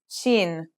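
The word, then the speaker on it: شين: letter we learn is Sheen this one is pronounced just like the English sh in the word shovel this one is very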